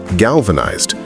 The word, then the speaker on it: galvanized: And past tense is galvanized. The ed is pronounced as d. Galvanized.